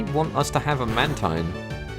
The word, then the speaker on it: Mantine: Now, this game may want us to have a Mantine. Or apparently it's pronounced Mantine.